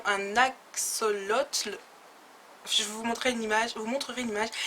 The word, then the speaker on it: axolotl: Attention à la prononciation, un axolotl.